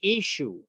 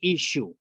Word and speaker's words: Ishu: The Assyrian people just say Ishu. They don't pronounce the at the end. Yeshua. They just say Ishu.